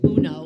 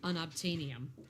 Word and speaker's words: unobtainium: And now that I'm not pronouncing it like Uno, like the game, unobtainium.